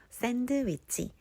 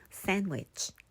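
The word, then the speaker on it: sandwich: 있을 때 생략이 되는데요 먼저 샌드위치 대신에 샌위치 샌위치 핸드 some 대신에 핸 some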